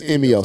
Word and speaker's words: Emio: So it is EMIO. So I was saying it right.